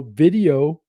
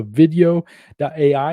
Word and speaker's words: Vidyo.ai: So video.ai, and it's spelled VIDYO.ai. So definitely check them out as well.